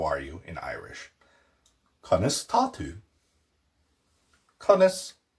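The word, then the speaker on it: Conas atá tú: Conas tatu.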